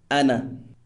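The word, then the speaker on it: أنا: We, pronounced nahnu, and I, pronounced ana, as nouns.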